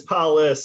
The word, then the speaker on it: Paulus: Is it? I don't want to say it wrong. It's Paulus, and.